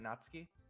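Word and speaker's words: Natsuki: the sour attitude who whose name is apparently natski is one I don't recognize am I pronouncing that right natski yeah yeah okay her small figure makes me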